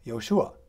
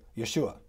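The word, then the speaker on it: יהושע: really really bad pronunciation Israeli say yoshua and if they say it really fast they say Yeshua and you know I've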